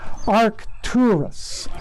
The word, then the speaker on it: Arcturus: with an orange color arcturus arc two are two rus it's spelled arc a-r-c